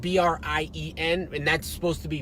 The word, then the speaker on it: Brien: So people are like, yeah, I know Captain O'Brien. I'm like, well, O'Brien. The only time you see that spelled like that is O'Brien. They are right. Or they'll be like, Brien. It's Brien.